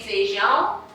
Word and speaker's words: feijão: Para vocês observarem que quando eu falo, eu digo assim, eu digo feijão, não, eu digo feijão. Eu não pronuncio o I.